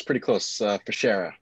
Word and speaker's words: Fichera: Let me introduce Fichera. Did I pronounce that correctly? Pretty close. Fichera. So it's like fish, but not fish.